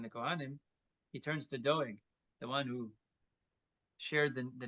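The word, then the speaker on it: דואג: Vayomer Melech ledoyeg, it's spelled doyeg, but it's doeg, ledoeg, sovatav gabakonim.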